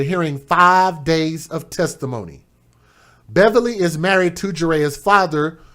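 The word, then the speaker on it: Bevily: Tea, last name Beverly, not Beverly, but be E V I L Y, who's 28 years old.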